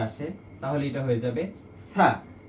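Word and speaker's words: ث: তাহলে এটা হয়ে যাবে থা থা। থা উচ্চারণের ক্ষেত্রে জিহ্বার যে আগা আছে, আগাটা সামনের দাঁতের আগার সাথে লাগবে। এই ক্ষেত্রে থার সঠিক উচ্চারণটা ভিতর থেকে হয়ে আসবে, যেমন থা থা।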